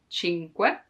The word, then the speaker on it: cinque: The hardest thing to pronounce in this word is que, cinque, because there's the You have to stop a moment before adding que, because otherwise cinque, no. Cinque, take your time to pronounce it slowly, and then it will come more natural.